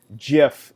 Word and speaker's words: GIF: free I suppose to pronounce that as jiff in the way that the inventor of the format envisioned but choose Imams choose jiff for all the rest of us it's a gift because clearly we're not